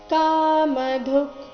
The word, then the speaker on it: ಕಾಮಧುಕ್: ಮುಂದೆ ಮೂರ್ಧನ್ಯ ಶೇಷವೋಸ್ತ್ವಿಷ್ಟ ಏಶವೋಸ್ತ್ವಿಷ್ಟ ಕಾಮಧುಕ್ ಕಾಮಧುಕ್ ಕೊನೆಗೆ ಅರ್ಧ ಕೆ ಏಷವೋಷ್ಟ ಕಾಮಧುಕ್ ಪೂರ್ತಿ ಶ್ಲೋಕ